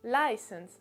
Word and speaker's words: license: trompez pas donc là l'accentuation se fera sur le lay donc sur la première syllabe license l'asn license voilà donc typiquement ça se prononce comme ça et le troisième et